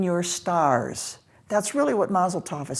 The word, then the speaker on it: Mazel Tov: So Mazarot is the word from which we get Mazel Tov.